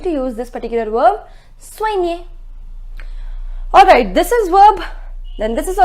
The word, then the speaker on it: soigner: It is soigner. It is soigner. I told you the pronunciation of OI is OA. So SOI becomes SOA and then near.